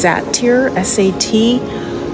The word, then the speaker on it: satyr: Here we have a male, a statue of what's called I think it's pronounced satyr, S-A-T-Y-R, holding grapes and a cup of wine,